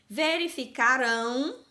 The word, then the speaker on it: verificarão: Preste atenção ao som final deles. Então, ó, verificaram no passado, verificarão no futuro. Olha como tá bem forte a pronúncia dessa sílaba. Então, quando eu tenho o verbo no passado, a sílaba forte é a penúltima. Então, vai ser uma palavra paroxítona. Quando eu tenho o verbo no futuro, a última sílaba forte, a sílaba tônica, é a última.